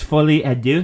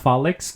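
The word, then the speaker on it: Folie à Deux: the Joker name correctly it's fully Adu not folic God ridiculous anyway you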